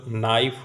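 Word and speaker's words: knife: भेड़िए नाइफ टिप्पणी देखिए नाइफ का उच्चारण केवल नाइफ होता है इसमें के अक्षर साइलेंट है यानी मूख है वी एस जोड़ते समय एफ अथवा एफ अथवा एफ ई निकाल देना होगा।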